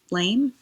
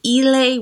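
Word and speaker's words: Islay: Haven it is a la whiskey from the Isle of LA or ela I think it's actually ela I'm not sure my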